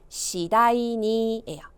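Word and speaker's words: 次第に: 발음이요. 시다이니예요.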